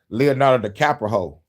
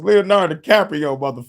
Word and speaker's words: Leonardo DiCaprio: in it and um Leonardo the capo. Leonardo the Cappuccino was in that movie. Did I say it right? It's Leonardo DiCaprio I don't give a damn.